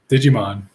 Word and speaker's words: Digimon: We'll probably get into Is it Digimon? Is that how you pronounce it? Digimon.